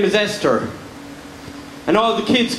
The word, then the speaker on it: Esther: If you're going to molest children, Esther is a fantastic name to have. Because if your name rhymes with molester, no one's ever going to believe the children.